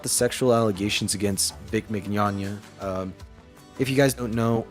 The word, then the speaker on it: Mignogna: But I want to talk about Vic how do you pronounce it? Mignogna? I How don't know the how to say his name. one sec. The voice actor for Broly. Vic Mignogna. Mignogna.